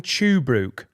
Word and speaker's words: Tuebrook: Is that in Tuebrook?